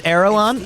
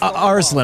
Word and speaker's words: Arslan: Okay, or I'm going to say that name wrong because I'm a dirtbag. So, Arslan. I was like, Erelon? I was like, I don't remember that. Yeah, it was Aslan or Arslan.